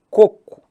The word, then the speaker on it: coco: côco e cocô e entendam coco onde é que tá a sílaba tônica na penúltima é um portanto uma paroxítona terminada em que em ó paroxítona terminada em o não tem acento já cocô é uma